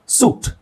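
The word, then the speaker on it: suit: ಇ ಸಾಕು so foreign ಸೂಟ್ ಸೂಟ್ ಅಲ್ಲಿ you sound ಬರ್ತಾ ಇದೆ ಐ ಅವಶ್ಯಕತೆನೇ ಇಲ್ಲ ಅಲ್ಲಿ ಸೂಟ್ ಅಂದ್ರೆ ಆಕ್ಚುಲಿ ಇಲ್ಲಿ ಐ ಇಲ್ಲ ಅಂದ್ರೆ ಬರಿ ಎಸ್ ಯು ಟಿ ಆದ್ರೆ ಸಟ್ ಸಟ್ ಅಂತ ಆಗುತ್ತೆ ಹಾಗಾಗಿ ಅದನ್ನ ಸೂಟ್ ಮಾಡಲಿಕ್ಕೆ ಅಲ್ಲಿ ಐ ಹಾಕಿದ್ದಾರೆ ಬಟ್ ಐ ಪ್ರೊನೌನ್ಸ್ ಆಗಲ್ಲ ಸೋ ಐ ಸೈಲೆಂಟ್ ಅಂತನೆ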